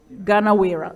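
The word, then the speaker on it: Gunawirra: She is a senior consultant at Gunavira, that's how you pronounce it? Gunavira maybe, yes? Ganawira, okay.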